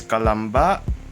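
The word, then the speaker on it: Calamba: in by buying so here is kalamba on the other hand here is sebu notice that there are see are pronounced differently so you should um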